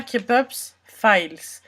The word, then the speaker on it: Kpop's Fails: nom kops files donc qui se prononce bien comme ça pour ceux qui douteraient c'est bien kepups files donc tu prononces bien les S non et en fait